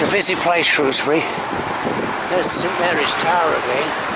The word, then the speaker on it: Shrewsbury: It's a busy place, Shrewsbury.